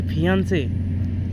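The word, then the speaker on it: fiancé: For example समझने के लिए, रवि की शादी रानी से हो जाती है तो रवि को रानी बोलेगी फियांसे, सिंगल ई के साथ, प्रोनाउंसिएशन में कोई अंतर नहीं है।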